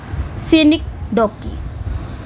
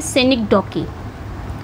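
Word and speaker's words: synecdoche: अब आते हैं आपका सेनिकडॉकी। ये इसका प्रोनाउंसिएशन है सेनिकडॉकी, ठीक है।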